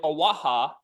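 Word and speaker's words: Oaxaca: in Mexico in the state of aaha it's spelled with an O crazy enough they banned the sale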